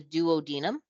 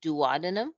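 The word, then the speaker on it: duodenum: The first part is called the duodinum. Sometimes I hear this pronounced dadinum and that's fine too. Okay, so duodinum or dadinum. It doesn't really matter.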